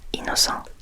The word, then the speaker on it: Innocent: the inocent rou because technically this would be pronounced the French way so inoco uh and between this